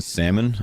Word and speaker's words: salmon: Anyways, um he pronounces the L in salmon.